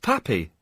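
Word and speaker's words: papi: Well, that's pronounced pappy.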